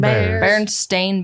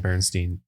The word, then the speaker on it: Berenstain: pronounce Barrett stain bearers is it do people pronounce that is that their same berenstain bears yeah I always I swear remember hearing at Bernstein Bernstein Bernstein Berenstein bears the berenstain bears so